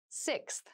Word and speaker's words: sixth: fifth floor don't you sixth sixth sixth so sixth refers to the number six of something this is a really good word to practice some pronunciation slow down that six six that middle part there the sixth book